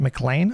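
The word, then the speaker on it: McLean: Mlean rhymes with plain. Dr. K did part of his education there. Fun fact. Mlane.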